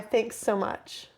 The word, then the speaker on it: THXSOMCH: Spit in My Face by Thanks So Much. And the way the artist is spelled is THXSOMCH. No vowels.